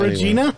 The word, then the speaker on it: Regina: so there's a town there called Regina oh sounds like well Regina Regina it's the town that rhymes with vagina um no in any way you go there and it's called Regina and I I never